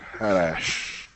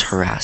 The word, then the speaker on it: harass: harass harass harass wom that word harash yeah it's it's pronounced harass so it means to